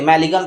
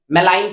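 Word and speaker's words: malign: नहीं तो मैलिन होता हम इसको क्या पढ़ते मैलिन पढ़ते कि नहीं मलाइन पढ़ते हैं आप अगर प्रोनंसिएशन करते समय इसको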